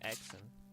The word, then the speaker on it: Hexen Isle: For some reason, oh, I've been calling it Hexen. The H is silent. It's the new canon.